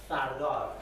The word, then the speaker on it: Firdar: It's pronounced Firdar. There are lots of pronunciations: Firdar, Firdaria, Firdaria, and Firdar, Fardar, Fardariyat. Different sort of pronunciation we have of this word, and there is no actually clear meaning for this term yet.